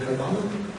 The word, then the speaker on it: Carvalho: Moving on to the fourth question, which will be posed to Carvalho. Is it Carvalho? Carvalho. You got it. You got it, guy. Mine's Har-U, so that's spelled Har-Jews.